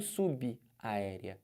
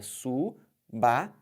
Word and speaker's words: subaérea: E não subaérea. É subaérea. Entenderam? Você pode também ter num contrato um item e vários subitens. Subitem. E é assim que se fala e é assim que se escreve. Perceberam? Então, você vai escrever assim, separar sílaba assim e falar subô. E falar subitem. E falar subaérea.